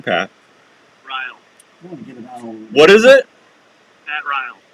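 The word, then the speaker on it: Rial: Ryle. What is it? Pat Ryle. Ryle? Yep. How do you spell that? R-I-A-L. Yeah, so they don't want to rile you up.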